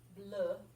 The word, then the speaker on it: bleu: Bleu, which means blue. Yeah. So it's almost like you say, how do you feel today? I feel bleu. That's kind of how you say blue in French.